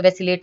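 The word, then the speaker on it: vacillate: आप प्रोनाउंसिएशन पे ये बात ना ध्यान रखें, इसको बोलते तो वैसिलेट है।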